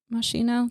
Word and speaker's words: Moschino: yeah he's in the macy's day parade he's very important jeremy scott's fall 2014 collection for moschino is how you say it moschino the fashion the fashion so yeah target yeah